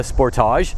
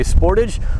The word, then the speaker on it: Sportage: So I've got the 2025 Kia Sportage, as I say it. Some people say Sportage. I think it sounds better as a Sportage.